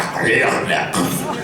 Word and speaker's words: Clornax: And they said, you know, is this word here the Clornax or is it the Clurnax? Oh, it's la Clornax.